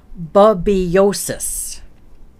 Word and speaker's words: Babesiosis: And I will pronounce it for you phonetically. Babesiosis.